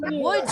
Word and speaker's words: would: Would you? Could you? Would you? Yes, that's it. There is a silent letter in could and would.